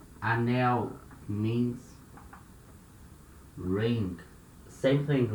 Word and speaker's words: anel: And here it's important to notice letter L at the end of a syllable. We had the sound of U. Remember? Anel. You can say anel. No problem. It's not wrong, but it's not natural.